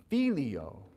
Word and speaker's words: filio: me Gloria patri it's filio it's yeah one more time because there's that you're not maybe anticipating that I on the end to be its own syllable it is okay I'll